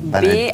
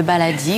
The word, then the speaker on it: baladi: Ça s'écrit comment d'ailleurs, le baladi? B-A-L-A-D-I, comme ça se prononce.